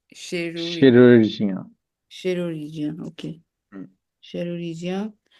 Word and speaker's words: chirurgien: So, chirurgien. It's chirurgien.